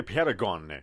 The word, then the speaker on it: paragon: اول باهم شروع می‌کنیم تلفظ لغت اول ما میشه پرگان اوکی پرگان گ نگی میگیم ق اصلاً میگم قاشق اوکی قاشق میگیر پش میگیم پرگان اوکی میگیم پرگان دیدی